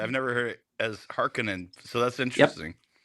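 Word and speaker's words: Harkonnen: and he actually says in that narration the Haronan. Why did he say it like that when he himself said the name is pronounced Harkinin which is how they said it in the in the miniseries.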